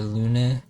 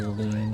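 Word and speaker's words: Lune: I think people usually call her Luna or Luna or something like that. Her name is actually Lon apparently. I can see how somebody would want to pronounce it differently in English because Lon kind of sounds derogatory.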